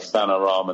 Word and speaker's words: Vanarama: stay in the Vanarama, which you got wrong last time, saying about Vanarama National League. That's how you pronounce that. It's not the Wilder Valderrama or the Victor Wanyama National League.